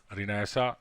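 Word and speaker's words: Renaissance: रिनाइसा, इसको रिनाइसा पढ़ते हैं, you must mind it's pronunciation.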